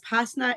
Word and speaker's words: Pasna: Yeah, so my name is Pasna. It rhymes with pasta, so it's quite easy to remember.